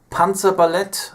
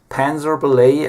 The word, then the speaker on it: Panzerballett: Yeah, I'm from Munich, Germany, and I started a band called Panzerballett or Panzerballett, as Americans say, back in 2004, and this is kind of extreme music.